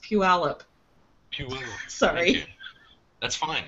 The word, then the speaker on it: Puyallup: i'd tell you guys it's pronounced puyallup sorry that's fine not